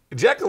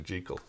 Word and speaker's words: Jekyll: You know, it's like, it's not Jekyll and Hyde. Jekyll and Hyde, but Jekyll and Hyde. Is that how it should be pronounced? Yeah, Dr. Jekyll.